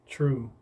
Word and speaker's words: 2Ru3: and the number three but it's pronounced true that's how I do